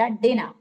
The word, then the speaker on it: dinner: ഡിന്നർ press ചെയ്യണ്ട, ഡിനർ, ഡിനർ, ഡിനർ എന്ന് press ചെയ്താൽ മതി.